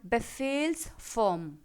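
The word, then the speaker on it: Befehlsform: In German it is called बेफेल्स फॉर्म। बेफेल्स फॉर्म आप हिंदी में भी देख सकते हैं, बेफेल्स फॉर्म। जैसे फेल कर जाना जैसे बोलते हैं ना, सेम उसी प्रोनाउंसिएशन से बेफेल्स फॉर्म।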